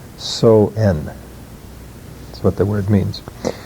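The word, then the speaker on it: Samhain: it's spelled s-a-m-h-e-i-n and it doesn't pronounce anywhere like it's spelled it's uh basically called so n that's what the word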